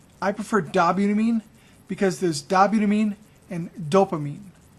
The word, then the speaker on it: dobutamine: though the two most common are isoproterenol and dobutamine you also may hear it pronounce dobutamine I prefer dobutamine because there's dobutamine and dopamine if you go